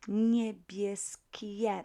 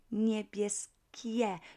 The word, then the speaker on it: niebieskie: Okay, so niebieskie, not niebieskie, but niebieskie. You would keep this I letter there so that it's better, nicer to pronounce, easier. Not niebieskie, but niebieskie, niebieskie.